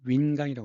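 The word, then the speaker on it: 云冈: 그리고 이것은 운강인데 중국 발음은 윈강이라고 합니다.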